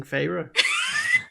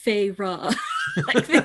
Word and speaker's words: Feyre: here he's like and he pronounced his name in like the two full syllables feyre like she's the author